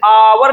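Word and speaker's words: hour: से क्या निकलती है, जैसे आवर निकला, एक साइलेंट होता है ना इसमें, इसमें एक साइलेंट है, यहां भी एक साइलेंट है, साइलेंट मतलब इनको पढ़ते ही नहीं है।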